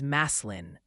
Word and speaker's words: Massillon: And Massillon is Maslin.